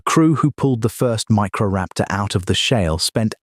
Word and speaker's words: Microraptor: Microraptor, pronounced micro raptor.